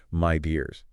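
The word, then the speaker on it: Midea: Did you know Medea is pronounced my dears?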